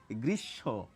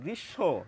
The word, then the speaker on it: গ্রীষ্ম: কিন্তু বেশিরভাগ ক্ষেত্রে ম ফলার ম এর উচ্চারণ আমরা করি না।